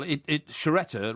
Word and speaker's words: Sciaretta: Well, Sciaretta rhymes with Beretta.